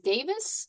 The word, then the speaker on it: Davids: She is running for Congress in the District 3 against Sharice Davids.